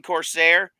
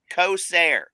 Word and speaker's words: Corsair: could just read like he kept calling Corsair coair it's like do you not see that R that's not a difficult word to pronounce El yeah there have